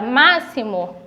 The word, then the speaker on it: máximo: o som do cs por exemplo máximo quando eu falo a palavra máximo esses são aqui 2x eu pronuncio com o som do o ss explicou quando